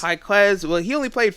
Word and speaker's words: Jaime Jaquez: Jaime Jaquez. Jaquez.